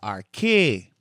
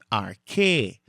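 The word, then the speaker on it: ἀρχή: And then we have the alpha, the rho, the chi, and the eta. So, this is the word arche, arche.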